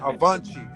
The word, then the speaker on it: avante: Avante. It's how you say it in Portuguese.